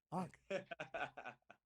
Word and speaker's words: Aanik: Aanik. Aanik. How do you say your name? I'm an idiot. Nailed it, Curtis. Third time's a charm. Aanik.